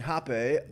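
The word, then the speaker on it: rapé: that shannon was offering hoppe uh for those of you uh wanting to do your own research on this it's spelt like rape with a little accent over e hoppe r-a-p-e uh a tobacco snuff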